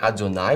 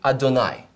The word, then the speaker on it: Adonai: From one is from the word Adonai, which means Lord, and the other one is from the word Elohim, which means God.